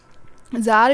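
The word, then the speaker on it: Tsar: यहां पे किंग बोलते हैं क्योंकि वहां पे जर बोला जाता था टी एस ए आर इसमें टी साइलेंट होता है तो जर भी उसके लिए कोई एक्शन नहीं ले रहा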